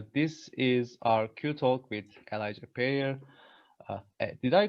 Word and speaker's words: Elija Perrier: Hello everyone, this is our QTalk with Elija Perrier. Did I pronounce it correctly?